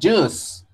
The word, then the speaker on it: juice: Es una J, una I, una S redonda y una E. Ya, se dice juice.